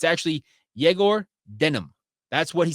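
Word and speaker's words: Egor Demin: how uh Travis who speaks Russian says you pronounce eigor Demon's name it's actually jagor denim that's what he said jagor denim that's how you pronounce his name correctly he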